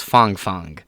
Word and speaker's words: Fang Fang: with a communist spy Fang fangle is pronounced Fong Fong but it's fun to